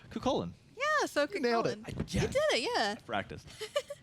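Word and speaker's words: Cú Chulainn: Next up, the god that always makes me sweat because I know I never pronounced the name correctly, Cuchulainn. Yeah, so Cuchulainn.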